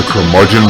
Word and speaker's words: curmudgeon: The Curmudgeon Rock Report. Curmudgeon rhymes with bludgeon.